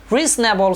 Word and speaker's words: reasonable: syllable ထိပ်က o ဆိုတဲ့စကားလုံးကို o ဆိုတဲ့ alphabet ကိုမြုပ်လိုက်မယ်ဆိုလို့ရှိရင် reasonable ဆိုတဲ့အတန်ထွက်အမှန်ထွက်လာပါတယ်။နောက်ဆုံးတစ်ခုအနေနဲ့ကျွန်တော်တို့ family ပေါ့နော်မိသားစုဆိုတဲ့စကားလုံးမှာဒုတိယမြောက် syllable ထိပ်က I ဆိုတဲ့ alphabet လေးကိုမြုပ်လိုက်မယ်ဆိုလို့ရှိရင်တော့ family ဆိုတဲ့အတန်ထွက်အမှန်ထွက်လာပါတယ်။